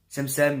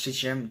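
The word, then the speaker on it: Şemşem: Il s'appelle Semsem, mais on prononce Chechem, tu vois.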